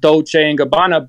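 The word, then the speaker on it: Dolce & Gabbana: by Dolce Gabbana that's Illuminati Dolce Gabbana it's pronounced Dolce Gabbana but it represents those say New Mexico for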